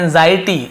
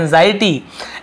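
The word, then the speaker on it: anxiety: उन्होंने देखा कि एंजाइटी, इसे हम क्या पढ़ते हैं एंजाइटी, इसे ज ऐसे उच्चारण होता है एंजाइटी, एंड अनसेटिस्फैक्शन।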